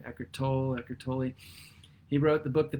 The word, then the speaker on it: Eckhart Tolle: Eckhart Tolle, I believe that's how you say his name, Eckhart Tolle.